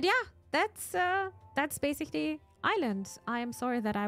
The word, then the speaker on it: Ylands: that's uh that's basically Island I am sorry that I was pronouncing the the game wrong at the beginning I thought it it's called Wildland but it's actually called Island well that's it with